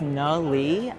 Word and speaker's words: Nhut Le: hello my name is no Lee uh no pronounced like Nathaniel or chicken nuggets people would recognize me